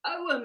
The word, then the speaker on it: Ogham: You wouldn't say the G, but in antiquity, who knows how it was pronounced?